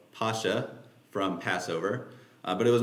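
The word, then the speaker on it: Pascha: closer historical accuracy uh Pasha is from the Greek word pasca so you just kind of add the kai uh pronunciation which is based on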